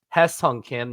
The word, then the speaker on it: 김혜성: Now, all you Americans say it as Hye Seong Kim, and some say it as Hye Seong Kim. But here's your Korean lesson of the day. It's Hye Seong Kim.